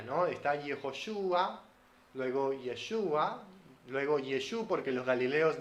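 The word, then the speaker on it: ישוע: galileos en yeshua sí Entonces los judíos ahora pronuncian yeshua y por eso nosotros pronunciamos yeshua ya que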